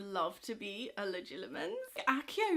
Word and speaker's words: Accio: Accio would be very useful, although I still believe that should be pronounced Accio, but never mind.